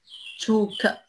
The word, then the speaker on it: Zug: Abflug Abflug Zug Zug نطق كا نطق كا هنا في الجملة.